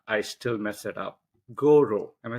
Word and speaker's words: Gauvreau: With me today, we have Robin Goro.